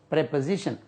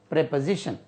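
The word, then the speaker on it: preposition: है प्रीपोजिशन प्रोपो जिशन प्रोपो जिशन प्रीपोजिशन प्रीपोजिशन यह प्रीपोजिशन नहीं होता है प्रपोजिशन प्र प्रपोजिशन ज ज जे से आएगा प्रपोजिशन प्रपोजिशन प्रपोजिशन प्रोशन प्रपोजिशन यह होता है हर्फ हर्फ जार हर्फ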